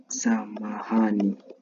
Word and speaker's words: samahani: Another Swahili word for sorry that you can use is samahani. Samahani, okay? So, you pronounce it as sa ma hani.